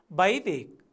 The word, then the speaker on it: वैदिक: यसै गरेर यहाँ वैदिक शब्द हेर्नुहोस् त, यहाँ वको प्रयोग, व वर्णको प्रयोग छ, यहाँ बको प्रयोग भएको छ। यहाँ क हलन्त लागेको छैन, तर बोल्दा चाहिँ आधा मात्रै कको उच्चारण हुँदो रहेछ।